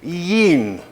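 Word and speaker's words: yean: sheep to give birth it's actually Yin two syllables but Shakespeare has already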